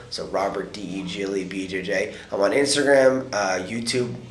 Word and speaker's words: Degle: It's pronounced Degle, so Robert Degle BJJ.